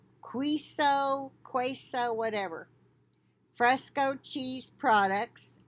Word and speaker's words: queso: maryland new york and virginia potentially linked to quaso fresco cheese products i hope i'm pronouncing that right it's q-u-e-s-o quiso queso whatever fresco cheese products from the brand